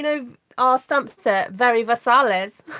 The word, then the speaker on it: Versailles: We have a town called Versailles, but we don't pronounce it like the French. We say Versailles.